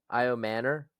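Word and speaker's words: Ayomanor: Another I Manor. That's how you say it.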